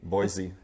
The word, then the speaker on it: Boise: There's no Z in Boise. Boise.